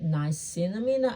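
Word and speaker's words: niacinamide: I would definitely say would be the night nice cinnamina. I think that's how you pronounce it's N I A C I N A M I D E.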